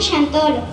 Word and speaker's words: Xantolo: El Sant cambió a Shank y la Turum cambió a Tolo y la llamaron Xantolo. Desde ese tiempo se celebran